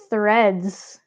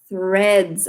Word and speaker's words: Threads: Threads. Threads. Ah, le fameux TH. Ah, suivi d'un R en plus.